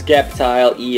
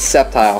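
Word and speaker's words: Sceptile: and that trade was for this septile ex skepti ex no it's not skep no no just no I hate that pronunciation it's not it it's septile skepti e ex even you know it's not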